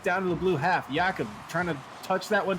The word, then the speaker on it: Jakob: Jakob's on the ball here. Apologies, we had a little bit of a pronunciation error. It is Jakob instead of Jacob. So make sure to get that right.